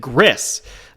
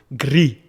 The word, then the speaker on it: Gris: Now, you may not pronounce it like that. You may see that and pronounce it Gris, but I believe it's the French word for gray. So Gris. Pardon my French.